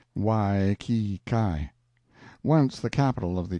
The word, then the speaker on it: Waikiki: It is the village of Waikiki, usually pronounced Wai-ki-kai.